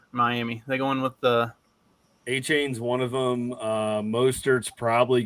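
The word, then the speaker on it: Achane: I thought that basically it looks like his name's spelled like Acne. I thought he was gonna be the starter. That's A-Chain. yeah. A-Chan, yeah.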